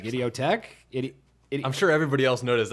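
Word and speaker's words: Idioteque: You know, dude, it is pronounced that way, but I realized the other day when I was listening to it, it says it's like idiotic.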